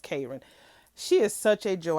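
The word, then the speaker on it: Karan: Okay, Karran K It's Her spell name is spelled k a r a n, but it's pronounced Karran.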